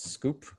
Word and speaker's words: skwp: me at on twitter at skwp pronounce scoop skwp and then uh swanbitcoin